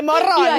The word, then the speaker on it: Morrone: I said it was pronounced like that, and I was told by these two I that wanna it was hear pronounced it. Morone.